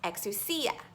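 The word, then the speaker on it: exousia: in the original language it's a word that is pronounced eksu sia and the definitions that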